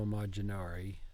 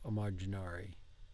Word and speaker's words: immaginare: Lo voglio immaginare. Non lo voglio immaginare. Non voglio immaginare. Immaginare. Non voglio. Good. To imagine. Now, imagine has two M's in Italian, and you will pronounce those both.